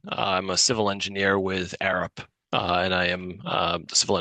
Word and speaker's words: Arup: I'm a civil engineer with Arup, and I am the civil engineer hired by the firm for the project here.